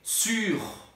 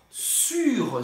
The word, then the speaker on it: sur: O primeiro, sobre, é sur. Sur, sur. La boîte é sur la table. Para pronunciar isso, faz a boca do U e fala I, su e pronuncia o R. Sur.